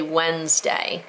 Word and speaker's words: Wednesday: Pronounced, we say Wednesday, so it's Wednesday. It's a 2-syllable word, even though you might find it in some dictionaries as a 3-syllable word.